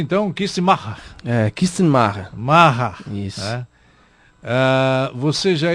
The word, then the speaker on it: Kistenmacher: Como é que se pronuncia, então? Kistemacher.